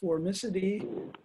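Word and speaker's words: Formicidae: end in the ida ending so this is pronounced formicity or if you want to be real latin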